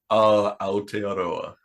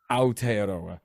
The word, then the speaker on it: Aotearoa: Aotearoa. Aotearoa, right?